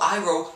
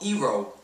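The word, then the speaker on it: Iroh: the characters names properly they pronounced Ang on they pronounced Avatar Avatar they pronounced Saka sooka I mean what the hell and they even called Uncle iro Uncle ero what what and Uncle iro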